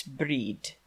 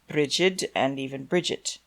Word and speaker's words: Brigid: In modern Irish, it's breed, but one also hears bridg. In Scottish Ga, it's mostly bridge or brea depending on the dialect. And in land Scots, people call her bride, although you may hear any of the Irish pronunciations I just mentioned, too.